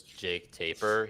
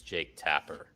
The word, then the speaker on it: Jake Tapper: Zade just FYI uh when Jay says Jake taper he means Jake Tapper that was an inside